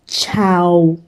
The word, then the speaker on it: ciao: So the common greeting almost everyone knows is ciao. So it is pronounced ch-ow, ch-ch-ciao.